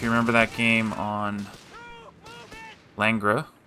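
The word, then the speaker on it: Langres: So, if you remember that game on Langra. Langra. It's French. I can't pronounce it. Everybody calls it Langris, you know, if you're American.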